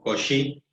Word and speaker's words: Cauchy: Esto los franceses lo pronuncian como Cauchy, pero es un teorema